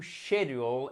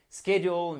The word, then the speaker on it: schedule: Et parfois, vous entendrez, notamment en anglais britannique, I like to schedule a meeting. Moi, je préfère plus la prononciation à l'américaine, vous l'avez compris. Donc, je vous dirais schedule, mais schedule est aussi possible.